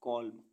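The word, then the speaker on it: column: मीस भजन सी ओ एल यू एम एन कॉल कॉल means स्तंभ ए यू टी यू एम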